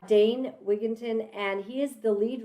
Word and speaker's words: Dane Wigington: an epic guest and his name is Dwayne wigon dway Dwayne Dane danne danne okay I said it wrong uh danne wigon and he is the